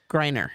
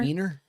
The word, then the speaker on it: Griner: Griner. Wiener?